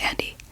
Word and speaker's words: Andy: And it helps that that guy, the undead guy, his name's Andy, because it sounds like undead, the English word pronounced with a Japanese accent.